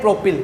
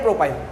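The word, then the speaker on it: propyl: Pronunciation pure यही होता है इसका, N प्रोपाइल। प्रोपिल बोल लो, ऐसी कोई बड़ी बात नहीं है, बाकी N प्रोपाइल होता है प्योर प्रोनाउंसिएशन।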